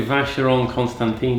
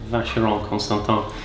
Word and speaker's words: Vacheron Constantin: Majority of people say Vacheron Constantin. It's actually Vacheron Constantin. But it's kind of like a French pronunciation.